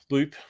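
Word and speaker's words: Lup: the girls um okay that's my wife's dog loop um uh loop loop has her name it's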